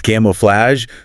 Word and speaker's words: camouflage: It's camouflage, 3 syllables, camouflage. That A is open, and the G is soft, like J. Flage, not a hard G.